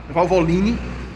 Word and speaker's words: Valvoline: Valvolini. Essa é a pronúncia.